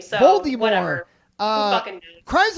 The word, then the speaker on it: Voldemort: Well, also Voldemort is apparently how you pronounce his name. So Voldemort.